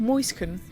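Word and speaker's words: Mäuschen: The tier 9 German, it's pronounced Moisken. It's German.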